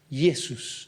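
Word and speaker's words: Ἰησοῦς: en griego y Jesús yesus Entonces se llama yesos porque nosotros le decimos Jesús Bueno ahí hay un cambio en el idioma en nuestro idioma cambió la J antes se pronunciaba como una Y entonces arrastró el nombre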